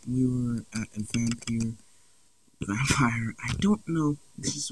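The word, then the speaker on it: Vampyr: I spelled it for Y. That's how I pronounce it, Vampire. And there's no E, so yeah.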